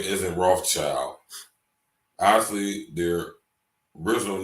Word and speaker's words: Rothschild: And in German, you pronounce red, Roth, and shield is Schild. So Rothschild, red shield.